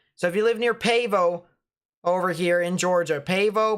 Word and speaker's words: Pavo: no rain over there it's pronounced pavo okay so if you live near pavo over here in georgia